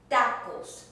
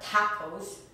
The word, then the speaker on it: tacos: In English you say t, in Spanish it's drier. Tomás, for instance, Thomas. Tacos, not tacos, ta is tacos. Tema, theme. Tostada, toast. Do you hear that sound? It is drier than in English.